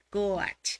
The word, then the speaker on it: coach: Coach con A. Se pronuncia con U, pero se escribe con a. Coach.